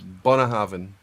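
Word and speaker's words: Bunnahabhain: the BH in binhaven is a v so Bina Haven perfect the actual the correct pronunciation okay we didn't get it we didn't get it for we didn't get it perfect no it's it's it's Bona having Bonnet would be closer but most people most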